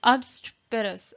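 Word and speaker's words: obstreperous: पहले तो ये देखिए, ओ को ओ की तरह प्रोनाउंस नहीं करना, अ बोलना है इसको, अ बोलना है इसको, और ई यहाँ पे आवाज नहीं करेगा। अब्स्ट्रोपेरस, अब्स्ट्रोपेरस, अब्स्ट्रोप्रस, ऐसे प्रस ऐसे बोलेंगे, प्रस, अब्स्ट्रोप्रस, अब्स्ट्रोप्रस।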